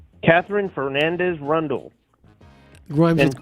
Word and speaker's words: Rundle: bitch's name catherine fernandez rundle grimes rhymes with rundle rhyme as in rhymes with grundle yep yep that's it